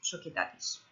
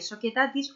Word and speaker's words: Societatis: Ley aplicable en las sociedades, la Lex Societatis. La nacionalidad como punto de conexión de la Lex Societatis. Societatis escribe societatis, pero es que en latín la C se pronuncia como una K.